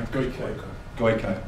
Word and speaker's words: Gojko: Gojko Adzik. I don't know if I pronounced that right either. Sorry. Goiko. Right. Okay.